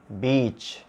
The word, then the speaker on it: beach: So this is shit, this is sheet, it, eat, bitch, beach, fit, feet.